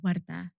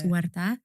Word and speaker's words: Warda: And in response to your first question, my name is pronounced Warda. That is how my mum says it. Yeah. But people who speak English primarily have a very difficult time pronouncing that rolling R.